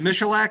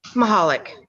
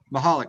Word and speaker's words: Mahalik: fine so um Miss is it melac how do you say your name mahalik mahalik Miss mahalik we're gonna